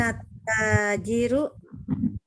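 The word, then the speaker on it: التاجر: crazy rukta Dirut ah Bacanya jangan salah ya toilet tajiru Hain attajiru Iya jawab ambil kecelakaan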